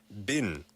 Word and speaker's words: been: 스펠링은 been인데 B-E-E-N. 근데 얘기할 때는 이 발음은 약간 bin, 쓰레기통, bin처럼 들리죠. How have you been? 네. Yeah. 근데 혹시 영국에서는 bean이라고 하나요? How have you been? 둘 다 쓰는 것 같아요.